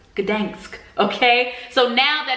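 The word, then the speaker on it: Gdańsk: want to point out that I was saying Gdansk the whole time, so I was pronouncing the city name wrong. It is Gdansk, Gdansk, okay?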